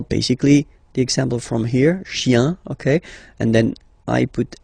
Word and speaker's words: chiens: Okay, remember, chien, singular form, chien, same pronunciation, but you put this s. Okay, final s not pronounced.